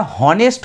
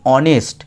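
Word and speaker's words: honest: আগে এ বসার কথা, কিন্তু দেখো আমরা হনেস্ট বলি না, আমরা কথাটা কি বলি, অনেস্ট। তাহলে অনেস্ট যখন উচ্চারণ হচ্ছে তখন কিন্তু এইচের উচ্চারণ হচ্ছে না, ও এর উচ্চারণ হচ্ছে, আর ও হচ্ছে একটা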